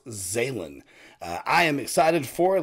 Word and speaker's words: Zhalyn: video and i believe the title is pronounced zaylen i am excited for